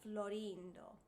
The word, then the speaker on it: Florindo: The very first line, Se Florindo e Fedele, the accent is on rin, of Florindo. Se Florindo e Fedele. That's where the accent is in the text.